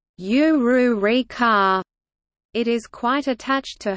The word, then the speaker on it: Ulrika: tries to teach it, like Ulrika's name, which Ouyu says it as, "Uryuurika," instead of, "Ururika."